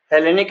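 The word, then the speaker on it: Hellenic: एलेनिक Republic है ना जिसको अगर हम एच को साइलेंट मान ले तो हम कहेंगे एल गणराज्य वो अभी भी कहते हैं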